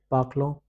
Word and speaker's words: parlons: Nous parlons. Vous parlez. Ez is a. On is pronounced as on.